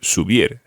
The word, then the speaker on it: subir: pronunciation, or the stress rather, on the last syllable. Comer. Comer. Hablar. Hablar. And as an example of an IR verb, subir.